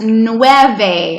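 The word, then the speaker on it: nueve: video gracias where was I oh yeah 8's new Ave and see that you and me together guys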